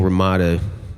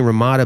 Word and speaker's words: Ramada: stopped me from bringing Ramada back to the glory days as a pinnacle of intellectual exchange. But back in the day, it wasn't pronounced Ramada, it was Ramada, kind of like Ramadan, and I think that's